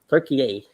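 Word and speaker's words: Türkiye: changed their name or officially changed the official pronunciation and spelling of the name to turkey turkey a because they don't want to be associated with the bird even though the bird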